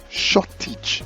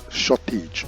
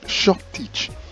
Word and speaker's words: shortage: Now the next one there is correctly pronounced shortage, as you can see, shortage, and not shortage, but shortage.